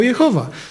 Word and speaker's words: Jehowa: to słowo czytać Jehowa Jeśli tak było ono czytane z tymi samymi samogłoskami co Adonai to wtedy brzmiało Jehowa i teraz Niektórzy na potwierdzenie tego że tak należało je wymawiać mówią że to jest imię Jezus które brzmi jehoszua a więc yeh jest ratunkiem a więc skoro yeh to znaczy że to imie czytano Jehowa ale z kolei inni